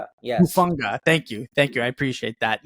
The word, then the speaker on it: Hufanga: And I know I'm going to get the name wrong. I think it's Taulanga Hufanga. Yes. Hufanga.